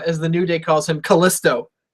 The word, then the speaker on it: Kalisto: new day calls him Kalisto they refus to put the accent on the eye he's Kalisto to them but um I think